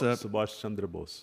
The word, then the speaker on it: Subhas Chandra Bose: And one of these heroes was, hopefully I pronounced him correctly, Subhas Chandra Bose. He was Subhash Chandra Bose.